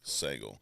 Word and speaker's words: Sagal: Sagal, you said like bagel. Sagal like a bagel. Sagal like bagel. All right, I will make an effort to never screw that up again. Sagal.